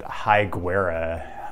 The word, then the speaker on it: Higuera: The main street that runs right through downtown, the locals pronounce it Higuera.